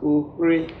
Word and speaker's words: Oghre: Oghre is pronounced Ohre. Okay. You just twist the tongue small. Yes, you go just make the G silent small.